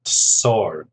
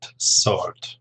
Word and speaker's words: sword: just in the pronunciation the W is silent sword sword okay let's have a